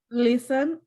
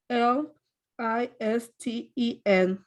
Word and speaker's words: listen: and number seven nancy listen l i s t e n and this is one of those words that you really don't say that t most people say it listen okay and number eight